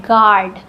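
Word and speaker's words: guard: Next है गार्ड। यू यहां silent है क्योंकि यह वोवेल से पहले आया है। ए वोवेल है। वोवेल से पहले यू आया है। तो यू साइलेंट है।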